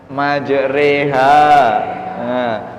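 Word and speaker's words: مَجْرٰىهَا: Oh iya surat gue bunyinya Hai majreha tulisannya Ma Jero HAM membacanya majreha uang kolom kamu Vienna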